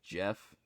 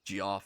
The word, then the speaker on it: Jeff: Yeah, I think I've learned that's pronounced Jeff. I always thought it was pronounced Joff or something.